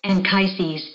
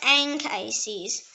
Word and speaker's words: Anchises: The next word is Anchises. Anchises. It can also pronounce Anchises.